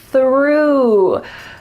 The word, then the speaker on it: through: We have a TH followed by an R. Let's practice it slowly. Your tongue is coming out between your teeth, and there's some air. That's a wonderful TH sound. Through. It sounds like I threw the ball.